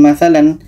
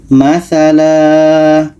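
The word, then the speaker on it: مثلا: sini ada tanda mim jadi kalau kita mau berhenti bacanya bukan masalan tapi adalah matala matala menjadi panjang Alif nah ini berhenti akhir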